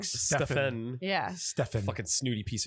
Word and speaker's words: Stephen: your parents are dumb because PH is a F sound, not a V sound. So really, That's they're right. pronouncing it So wrong. it's like Stephen.